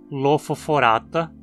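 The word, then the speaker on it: Lophophorata: A longo e, como ele cai na penúltima sílaba, a palavra é sempre paroxítona, como também em hemicordata, lofoforata e equinodermata?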